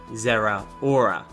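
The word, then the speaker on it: Zeraora: revealed that of course being the mythical Pokemon Zehra aura at least I am we're that's how you're supposed to pronounce it now zero hora is actually pretty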